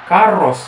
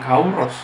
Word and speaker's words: Carlos: kalau ejaan sekarang katakannya harusnya Roberto ya Roberto karos gitu ya bukan kauros Ya udahlah pokoknya Harley